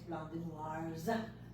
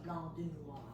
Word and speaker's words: Blanc de Noirs: So it's not noir because noir would be one grape, and it's Blanc de Noirs because, but you don't pronounce it. So it's a Blanc de Noir.